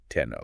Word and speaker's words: Tenno: But when we refer to the later monarch on the Japanese archipelago who adopted those exact same characters centuries later, we will pronounce it as Tenno.